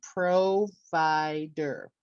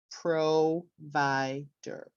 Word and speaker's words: provider: ver time over time and the next word provider we know that the stress is on the second syllable so we would say provider provider okay so now to